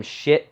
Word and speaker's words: Schiit: going to be buying some shit audio that is pronounced correctly. It's SCHIIT.